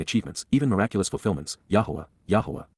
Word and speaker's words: Yahweh: even miraculous fulfillments yah Yahweh the proper pronunciation of the name of eloah God as directed in